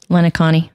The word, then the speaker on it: Lencioni: Lencioni.